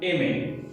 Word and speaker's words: aimer: So this verb is aimer. Coming on to its pronunciation, as you will see, R is in the end and there is no R sound in speaking, in pronouncing aimer.